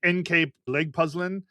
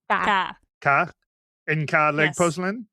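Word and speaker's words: NK Legpuzzelen: I have it as NK leg puzzlin, but you guys said it differently because you say K differently than I do. Ka ena leg puzzling.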